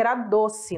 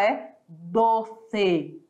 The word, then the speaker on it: doce: doce você lê ali se você fosse língua portuguesa você ia dizer que era doce né mas por enquanto todavia Entretanto a pronúncia correta em língua espanhola é doce Olha o e e olha o tá sempre ali fechadinho doce cresce a rece